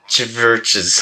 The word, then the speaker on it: CHVRCHES: Yeah, that's how Yeah. you say it. It's spelled CHVRCHES. Wait, do you actually not understand? No, I don't know what that is. It's a U. What? It's supposed to be a U.